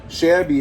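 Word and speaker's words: Shabi: of our names so shabby is spelled s-h-a-b-i and that's for spencer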